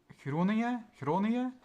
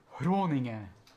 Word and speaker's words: Groningen: the place name Groningen, I say it relatively soft in comparison to a Dutch person, but if you go to Gent, they say Groningen with an H. Like, dude, Here's your soft G right there.